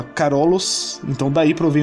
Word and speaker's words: Carolus: sua homenagem, já que seu nome do latim se pronunciava Carolus, então daí provém o termo Império Carolíngio, sacou?